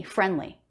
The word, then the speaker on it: friendly: what happened there again the d comes after an end before consonant very common to drop that d i didn't say friendly but there's no d friendly or maybe you said